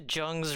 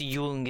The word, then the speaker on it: Jung: red book and yes, I know it's Yung. It's Carl Yung. Um, but uh I I can't help that the way it's spelled, it's always going to be jung as in jungle to me.